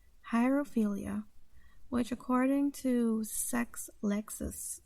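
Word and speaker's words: hierophilia: interest was something called Jairo philia it's spelled h IE r o ph IL i hire ophelia which according to sex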